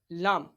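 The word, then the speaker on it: ل: Lam is pronounced from the edge of tongue touching the gums of all the top front teeth.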